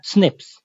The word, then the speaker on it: SNP: single nucleotide polymorphism or SNP and this is pronounced as snip snps are abundant in